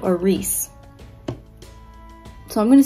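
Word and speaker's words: Rhys: to as i sand or rise is actually pronounced resand or reese so i'm going to say it wrong about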